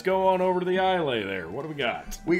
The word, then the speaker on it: Islay: Islay, pronounced Islay, is Islay?